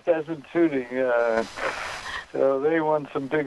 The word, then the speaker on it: Desmond Tutu: Lama and Desmond Tutu, do I say it right? Tutu? Yes, Desmond Tutu.